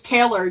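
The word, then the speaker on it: Tehlor: And then I was like, oh, she spelt it, it's Taylor, just spelt funnily.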